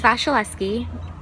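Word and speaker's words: Wasilewski: My last name is Vasilevsky, and it's spelt with a W, but pronounced with a V.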